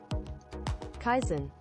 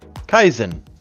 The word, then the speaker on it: Kaizen: for me and now we're going to actually pronounce k a i z n Kaizen Kaizen Kaizen Kaizen all right so Kaizen is a